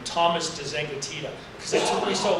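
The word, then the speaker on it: de Zengotita: People like Sherry Turkle, Nicholas Carr, Douglas Rushkoff, and I have to say the name, Thomas DeZengatita, because it took me so long to learn how to say it.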